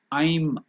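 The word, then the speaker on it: ऐं: may become like Aim so it's not aim many people in the Western World they pronounce it as aim it is not aim it is I'm I plus y I'm or at the most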